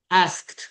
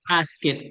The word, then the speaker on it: asked: Asked. Ahí no pronunciamos asket, sino ask. Ajá. Ese ese sonidito al final, Cat, como si después de ask le agregas una T.